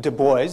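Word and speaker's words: Du Bois: was fairly segregated and WB Deo that's how he pronounced it a sociologist first African-American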